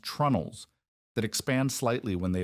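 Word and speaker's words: treenails: We drive these joints home using oak pegs called tree nails, pronounced trunnels, that expand slightly when they absorb moisture and contract when they dry out.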